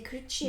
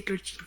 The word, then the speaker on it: Clutshy: C'est Clutchy, hein, c'est comme ça que ça se prononce. Oui, c'est Clutchy.